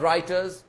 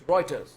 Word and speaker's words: Reuters: a fact and by the way it's not writers it's reuters not writers that's the pakistani pronunciation it's reuters thank you and kafura says